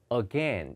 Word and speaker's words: again: 발음이 여러분 again 3음절이 아니고요. again 2음절입니다.